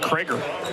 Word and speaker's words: Creger: defense going be Jared cger out of sunber in Big Walnut High School a 6-3 junior in for the first time spelled like creger by delphus but not said the same we're told that's tough